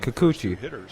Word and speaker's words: Kikuchi: it's become a rather taxing inning for you kikuchi kikuchi i was right i i was saying it right i said it right the first time i said it kikuchi took home all eight pizzas and four crazies